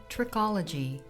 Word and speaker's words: trichology: the scientific study of the hair is called trichology pronounced trick all g it comes from the greek